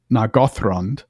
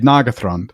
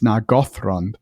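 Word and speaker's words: Nargothrond: was at Westmoot that I heard it said naggo and I thought, you know what, that's actually the correct stress. I've always said nagatron. Yeah, I had too. But really because of the thr. Now the th is not itself enough because remember the th is actually just one sound, right? You're right. But because it's a th and then an r, it's nagron.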